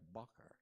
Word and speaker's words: bocher: A few years younger than Miranda, Isaac had the doughish, beautiful face of a yeshiva bocher. Did I pronounce that right? Bocher.